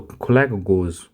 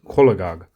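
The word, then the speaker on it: cholagogue: So kakog go kakog go I think it's not kakog go. So how we pronounce this is kolag.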